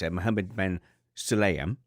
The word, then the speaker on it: Mohammed bin Sulayem: It's Mohammed bin Sulayem. Bin Sulayem, yeah. Yeah, bin Sulayem. It can be bin or Ben.